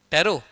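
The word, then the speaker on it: Pterocarpus: हां क्या क्या हा बोलो बोलो टैरो हां सीपी व साइलेंट है रो कार्पस मारसूपियम क्या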